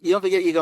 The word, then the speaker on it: Ego: You do pronounce it Ego, right? Ego Maserati.